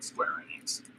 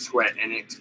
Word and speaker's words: Square Enix: series, and both from Square Enix. I pronounce it Square Enix, but I have heard people pronounce it as Enix, so that's more of your coffee.